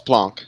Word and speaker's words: Planck: say plank time well it's not pronounced plank it's plonk his name i i just said